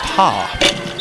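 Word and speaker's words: ห้า: doing is funny because five in the Thai language is pronounced ha.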